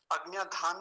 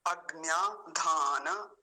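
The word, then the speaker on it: अग्न्याधान: बोलेंगे आधा नहीं करेंगे अग्न धान नहीं कहेंगे अञ धान न मंत्र तो ये हुआ शीर्षक फिर से देख लीजिए अज्ञ धान मंत्र अज्ञ धान मंत्र ऐसा इसका उच्चारण होगा चलिए आगे देखिए आगे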